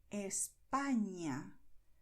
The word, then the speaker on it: España: And the letter ñ is pronounced as you hear here. España, Cañamel.